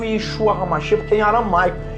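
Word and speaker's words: ישוע המשיח: verdadeiro nome do Senhor Jesus em hebraico eu pronuncio Yeshua Hamashia que tem aula mais e aqui na cruz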